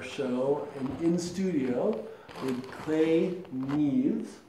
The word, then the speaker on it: Neves: It's been pronounced several different ways. It's such a short name, you wouldn't think it had so many ways of being pronounced, but it's Neves, Neves, Nevis.